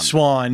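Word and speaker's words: Siuan: it for you okay just say it Swan Swan thank you stupid spelling but yes that is that is her name is Swiss Swan and I mean they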